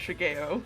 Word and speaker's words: Shigeo: Oh, I was just gonna say, actually, it's pronounced Shigeo. Shigeo?